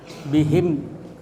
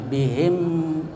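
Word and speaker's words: بهم: ee bibir tertutup ya jadi bacanya bihim jelas itu mimnya bihim wa ya izhar syafawi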